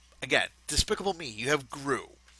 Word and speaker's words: Gru: It's not Guru. It's Gru.